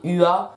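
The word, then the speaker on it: Hua: D'accord, donc en fait, ils vont prononcer Ua, roi. Ça va être compliqué de faire une différence entre le roi avec une couronne et roi, H-U-A, son nom de famille.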